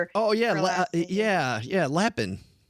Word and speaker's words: Lapin: I remember reading a book by Nicole Lein. I don't know, Leen. I'm not sure how you pronounce her. Oh, yeah. Yeah. Yeah. Lapin.